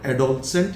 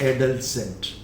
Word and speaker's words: adolescent: This O एज ओ, whereas it is pronounced as a. Okay, so it is not adolescent, it's adolescent.